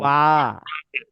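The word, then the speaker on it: ب: ওয়াও, ওয়াও, ওয়াও, ওয়াও, বা, বা, বা, বা, বা, বা, মিম, মিম, বা, মিম, মিম, তাহলে ওয়াও, ও, ওয়াও, বা, বা, বা, বা, মিম, মিম, মিম, জি।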